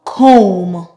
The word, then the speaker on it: comb: So in the words I will present, we will only pronounce the M, mm.